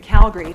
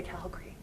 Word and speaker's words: Calgary: city I live in Calgary Terrace from Calgary natives say greet Calgary right people from out of town say Calgary the way it's spelled but whenever anyone